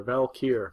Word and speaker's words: Valkyr: The Brocker bike, it's called a Valkyr, and he told us even how to pronounce it. He did. Little parentheses at the tail end there, Valkyr.